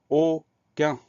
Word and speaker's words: aucun: Alors, première syllabe O, le son O va s'écrire A-U. Deuxième syllabe, qu'un. Alors, attention, le son Q va s'écrire avec un C tout simple, et le son 1 va s'écrire UN. On fait attention à ces deux sons-là, le son O qui s'écrit AU, le son 1 qui s'écrit UN. Sinon, il n'y a pas de difficulté particulière.